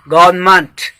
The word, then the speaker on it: government: हैं, correct sound है गवर्नमेंट, गवर्नमेंट, GOVERNMENT। अगर MENT जो मेंट किसी भी वर्ड के एंड में आए तो उसका प्रोनाउंसिएशन मंट होता है, जैसे डिपार्टमेंट, अपार्टमेंट, ठीक है।